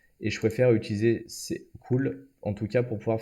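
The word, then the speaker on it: CeWL: vous présenter c'est cool alors ça c'est crise c'est eux w elle mais ça se prononce cool ça permet de générer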